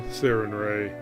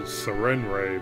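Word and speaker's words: Sarenrae: Unless by the light of mercural sarinray. So I always used to pronounce it Serenray, but I guess it's Sarin Ray.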